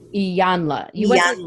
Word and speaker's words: Iyanla: I never can pronounce it right. Iyanla. Iyanla. You went to this Iyanla. program with Ilanya.